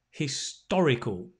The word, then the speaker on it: historical: confused historic and historical can you say them with me because the stress is on the oh historic historical so they are very